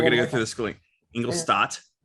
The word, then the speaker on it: Ingolstadt: Ingolstadt. Stop. Like a stop sign. Okay. No. But no P. T at the end. No P. Okay. It's STADT. So I'm pronouncing it like STAT though.